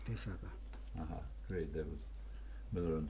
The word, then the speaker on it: Defaka: Defaka. Defaka.